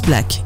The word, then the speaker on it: Blaque: défi make-up pour le magazine Blake ça se prononce black et le magazine c'est